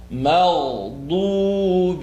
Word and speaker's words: مغضوب: Magh. Don't bounce magh. Zubi? Where? I'm lost. Just take a little bit of time. There's a huge clip on Lod, third part of the tongue, right or left molars.